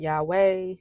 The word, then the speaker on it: Yahweh: Some pronounce it Yahweh. Others, like I have for many years, pronounce it Yahuah or Yahuah.